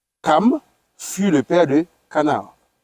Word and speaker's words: Cham: Les fils de Noé qui sortirent de l'arche étaient Sem, Cham ou bien Cam. Oui. Parce qu'on prononce Cam.